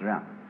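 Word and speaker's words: jen: In Confucius philosophy, the fundamental virtue of a human being is called Jian, spelled J-E-N for reasons best known to Chinese scholars. I don't know what they are, but it's pronounced Jian.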